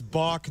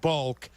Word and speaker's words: balk: We tell Cap it's Balk, not Bulk.